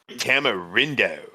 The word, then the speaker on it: tamarindo: but they had something that was called like tamarindo.